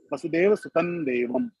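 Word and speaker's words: वसुदेवसुतं देवं: So, but when you want to pronounce it with the advanced level, with the correct level, how Krishna pronounce it, then you have to say it Vasudeva Sutan Devam.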